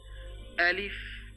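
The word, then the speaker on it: ألف: বলতেও হবে এভাবে আলিফ আলিফ এটা খেয়াল রাখবেন শক্ত করে বলতে হবে হলকের শুরু থেকে হলক মানে কণ্ঠনালী কন্ঠনালী শুরু থেকে এটা আনতে হবে তারপরে যে হরফ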